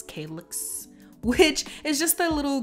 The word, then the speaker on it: calyx: and slice i start by removing the it's pronounced calyx calyx which is just a little green leaf a